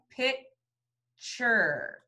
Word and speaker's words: picture: And what does T-U-R say? Chur. Good. So to read this word, we have pic-ture, picture.